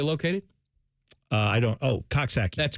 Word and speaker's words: Coxsackie: Edison where they located uh I don't oh coxi that's correct thank you thank you yes you're